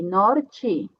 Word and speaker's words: norte: E aqui temos uma T, então a pronúncia vai ser Ti, norte.